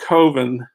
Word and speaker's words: Coven: Mark Borchardt there he makes this film called kovin which really is pronounced coven I guess but I think he